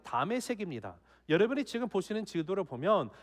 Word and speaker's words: 다메섹: 여러분, 이 다메섹이라는 것은 시리아의 수도 다마스쿠스죠. 거기에 히브리식인 발음이 다메섹입니다.